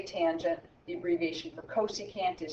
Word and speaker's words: tangent: say Coast all right the previous for tangent is ta n but we say tangent the abbreviation for cosecant